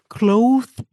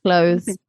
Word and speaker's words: clothes: Clothes. Clothes. I always say to people just do it like close the door cuz it's not that far away from clothes, you know, clothes.